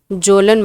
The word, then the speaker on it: Kjolen: है जिनको बोलते हैं जोलन माउंटेन। ठीक है, जोलन माउंटेन लिखते हैं KJOLEN, जिसमें के साइलेंट है।